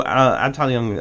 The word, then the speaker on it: Abteilung: You know when I start saying words quasi close to it in German that I must have actually looked up the pronunciation. Anyways, so Abteilung, obviously battalion in World War II, or department.